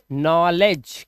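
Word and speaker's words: knowledge: तो यहां पर देखो जा आया बट डी साइलेंट है। डी से बनता है ड लेकिन आप इन किसी भी वर्ड के अंदर ड साउंड नहीं देख रहे हैं। सिर्फ जा साउंड देख रहे हैं। इसीलिए जी से पहले डी आया। It will be silent in the word.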